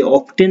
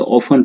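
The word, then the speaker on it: often: जैसे ऑफन, ऑफन मतलब प्राय, अगर ऑफन दिया हुआ है, इसे ऑफ्टेन नहीं पढ़ते, इसे ऑफन पढ़ते हैं, टी साइलेंट होता है, तो सिंपल प्रेजेंट टेंस यूज होता है।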